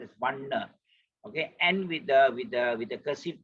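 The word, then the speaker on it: vaṇṇa: So N with the dot below, as in Vanna. Put your tongue at the palate. Vanna, no Vanna. If you want to be more accurate, but if chanting purposes, sometimes you just say Vanna also, people will not notice that. It is okay, but provided you pause at double N.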